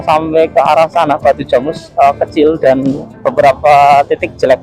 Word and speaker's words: Jamus: Jamus kalau orang luar kan bacanya Jamus ya. Kalau orang Sragen Karanganyar Jamus. Jadi ada N-nya gitu. Nah ini ya dulu, nah sebelah sini dulu jelek banget sini.